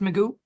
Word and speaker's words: Magoo: You said your last name is pronounced Magoo.